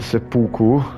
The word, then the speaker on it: seppuku: He basically committed seppuku, that's how you say it.